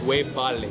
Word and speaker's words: webale: You can say wevale. Wewale. Wevale. Webale.